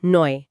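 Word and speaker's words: neu: चौथा 10 auto east नॉय मतलब 10 auto east नोए गाड़ी नहीं है। ऑटो में आउ का आउ और नोए में ओ ई का ओय नोए।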